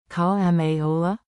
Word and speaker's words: כמה עולה: Pronunciation beat. Clap it out with me. Keep it playful. Call ma ola.